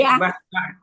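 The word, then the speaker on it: بصطة: Bu ee Leli itu tadi bastah. Basah tadi dibacanya baca sin apa shad ya? Shad apa shak tahu sin ya bacanya sin ya. Iya bacanyaq kibas sin bukan sh ya Bu.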